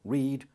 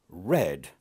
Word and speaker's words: read: should remind you about the word read which though it's spelt the same in the present and the past is pronounced differently read red now the others choose